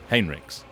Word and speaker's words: Heinrix: the humans have Germanic-sounding names, it's not pronounced Heinrix. You're telling me. Look, I didn't write it. I've been told off. I have been thoroughly told that it is Heinrix.